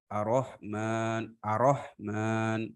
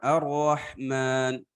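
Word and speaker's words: الرحمن: Ar-Rahman. Nah, itu harusnya kan Ar-Rahman. Dia bacanya Ar-Rahmanirrahim. Nah, ro-nya nggak ditasydid.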